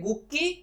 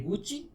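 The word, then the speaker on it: Gucci: इसको या तो हम प्रोनाउंस करें गुक्की या प्रोनाउंस करें गुस्सी, बट कंपनी से प्रोनाउंस करती है गुची। From no angle it's गुची, but pronounce करती है तो हमें भी प्रोनाउंस करना है गुची।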